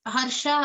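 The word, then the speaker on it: हर्ष: Just make sure to the words Harsha and Amarsha in the second line, just make to emphasize on the sh in the word.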